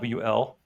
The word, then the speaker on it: awl: It's called an I guess it's pronounced all, but it's awl.